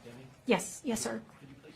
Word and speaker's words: Deming: Deming, is pronounced Deming?